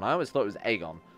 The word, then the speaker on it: Aegon: In the show, they pronounce it Aegon. I always thought it was Aegon. With more emphasis on the A sound and less on making him sound like a delicious breakfast treat.